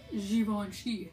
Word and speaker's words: Zoya: a little tassel packaging super impressive pull this xoni yeah that's how you pronounce it so here's the color it is